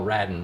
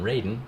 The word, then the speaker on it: Radin: have radin now I'm going to call Paul radden radden rather than Raiden because that's how they pronounce his name and he has in his